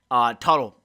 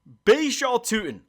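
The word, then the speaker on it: Bhayshul Tuten: Tuttle. I can't really speak today if you couldn't tell. Baishal Tutin. I don't know why I pronounced his name wrong the first time, but Baishal Tutin.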